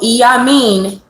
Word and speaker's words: Iyamí: So Iyamín, or the Iyamí, two pronunciations depending on your language, is a sacred coven of mothers.